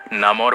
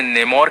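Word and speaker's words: Namor: Comics में, movie में और साथ ही कार्टून्स में इसके अलग अलग प्रोनाउंसिएशंस हैं। कोई इसे नेमोर कहते हैं, कोई इसे नमोर कहते हैं, कोई इसे नामोर कहता है। तो आप लोग अपनी कन्वीनियंस के अकॉर्डिंग इस वर्ड को ले सकते हैं।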